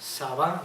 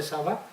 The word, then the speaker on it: Sabá: Vino la reina de Sabá, con acento en la segunda A, Sabá, no de Saba, sino de Sabá, y aquella le puso